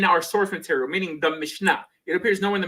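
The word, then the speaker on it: Mishnah: I'm pronouncing it wrong the Mishka you said no the mishna the mishna so this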